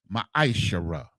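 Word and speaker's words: מעשר: 10 means 10th in the Hebrew and is pronounced maishara ten percent of every penny of any increase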